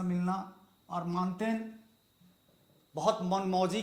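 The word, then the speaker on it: Montaigne: एक फ्रांसीसी विद्वान हुआ जिसे मान फ्रांसीसी उच्चारण माउंटेन भी लोग बोलते हैं बट फ्रांस में ट नहीं है तो मानते मानते हुए फादर ऑफ निबंध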